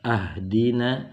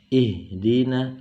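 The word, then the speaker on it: اهدنا: Nah, di sini kita masih bingung membacanya, apakah ahdina atau ihdina atau uhdina, sehingga perlu kita mengetahui kaidahnya ya. Yang pertama kaidahnya ini adalah kasroh.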